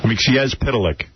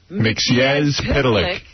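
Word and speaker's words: Mxyzptlk: Mix pitilik. Mix pitilik. That's it. Mix pitilik. Oh, that's cute. Yeah. Not mix. Not mix. Mix pitilik.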